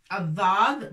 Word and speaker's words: الضاد: Alors الضاد مفخمة تنطق هكذا. الضاء.